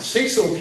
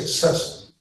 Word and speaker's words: Cecil: When you take out Cecil County, if you go up, now I say it like a Marylander, not like in an English, but I don't say Ceil, but you go up to